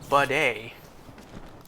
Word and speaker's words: bidet: It really isn't pronounced like how it looks like it's spelled. So, water flows from the faucet through vacuum breaker to bowl, filler, or to spray using diverter. So, bidet.